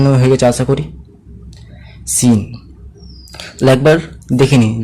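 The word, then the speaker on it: سين: 99% student সবাই বলতে পারে সিন সিন। হলো, ভুল কি? সিন ছাড়া কিছুও বলবেন আলাদা আলাদা ধরনের, সেটা ভুল হবে। যদি আমি ফিন বলি, যে বার করে ফিন, এটাও ভুল। যদি আমি সিন না বলে শিন বলি, শিন, সাউন্ড আলাদা হচ্ছে না, শিন বলি, তবুও ভুল হবে।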